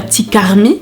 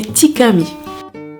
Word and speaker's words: Tikarmi: D'ailleurs, si vous voulez vraiment le prononcer à l'haïtienne, il faut savoir que le R est muet et du coup, on dit pas Tikarmi, mais Tikami.